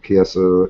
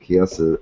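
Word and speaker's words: Chiesa: Asian people to me when I see Chi I'm thinking CH Tom oh that's sister number eight you know I think it's pronounced K yeah it's k is K yeah so Michael kiasa versus Joe L on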